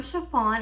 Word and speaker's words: Sha-Phawn: you're new here I'm chiffon and it's pronounced like the material and let's get this